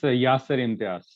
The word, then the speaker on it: Yasir Imtiaz: And I had the pleasure today to be the evaluator for Yasir Imtiaz. Am I pronouncing that correctly? Yes, Yasir Imtiaz. That's fine.